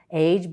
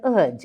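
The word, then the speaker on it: -age: It is not age but udge.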